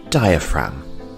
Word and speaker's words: diaphragm: the lungs we have the diaphragm and the g here is silent diaphragm our next body part